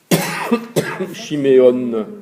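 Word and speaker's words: שמעון: Le haïn, il est muet, mais il devient O avec le vav à côté. Et on prononce Shiméo, N. Chiméon, Chiméon.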